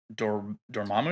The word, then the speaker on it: Dormammu: Do- Um, Dormammu.